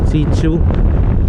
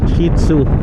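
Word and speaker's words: Shih Tzu: Sichu ano? Sichu yan nahubulin ako sa pagpronounce ng pangalan nung aso. Shitsu yon. Shitsu.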